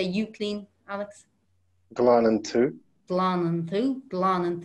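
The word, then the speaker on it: tú: now the word for you in irish is two two if you saw that written it's t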